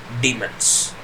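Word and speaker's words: daemons: to demons demons demons I think that's demons we have to pronounce it as demons so the next St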